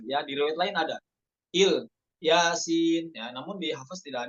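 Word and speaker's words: إل ياسين: Ala Ibrahim, ya, pada ikhtibar, pada momen ikhtibari ketika dites bacanya itu Ilyasin hamzahnya dibaca kasroh. Nggak boleh wakaf pada kata il, kayak gitu doang.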